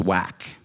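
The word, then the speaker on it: uak: And he also told me I was whack.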